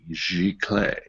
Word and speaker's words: giclée: Giclee', Giclée. And it's French. It means to spray.